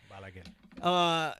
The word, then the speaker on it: Balaguer: Yeah, Balaguer.